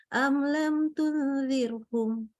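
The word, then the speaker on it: أم لم تنذرهم: Am lam tunzirhum. Kembali ya, ini gunah. Gunah itu minimal 3 harokat, tidak boleh kurang. Kalau mau sempurna. Jadi kalau bacanya gini boleh nggak? Am lam tunzirhum. Kurang sempurna. Ingat bahwa kalau kita belajar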